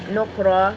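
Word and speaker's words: نُكْرًا: Nukra, karena ra bertanda baca fathain, dibaca tebal.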